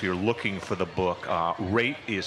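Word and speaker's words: Wrate: We're talking to Richard Raitt, and just so people know, if you're looking for the book, Raitt is spelled W-R-A-T-E, so the W is silent.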